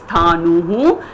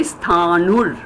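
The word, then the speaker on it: स्थाणुः: That R behind sthanu actually means visarga, so you can pronounce it as sthanuhu or you can say sthanur while pronouncing, but it actually means the visarga as per Sandhi.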